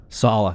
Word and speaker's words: Saleh: Saleh, thank you. And they hired Mike LaFleur, who is the passing game coordinator from 2017 to 2020 of the 49ers, San Francisco 49ers. Because he came over with Saleh.